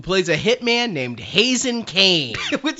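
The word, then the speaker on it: Kaine: I said Hazen Khan, but we don't ever hear anyone say his name, right? It's spelled K-A-I-N-E. In English, right. That's Kane. It's Kane.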